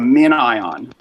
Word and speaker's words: MinION: A min ion. It's like spelled like minion.